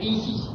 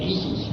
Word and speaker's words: Isis: de los misterios mío que se pronuncia Isis en dos se reparte en dos sílabas y así se pronuncia el man Isis la s es como un silvo dulce y apacible al hacerla al entonar